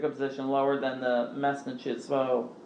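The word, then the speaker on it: mestnichestvo: And then he also abolished the mesnichismo, which I looked up how to pronounce, and I should be saying that correctly.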